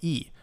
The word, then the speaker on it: e: Make sure that you can differentiate between, in terms of the pronunciation, between è, like egg, which is it is he is, she is, versus e, which means and, which has no accent on it. So e.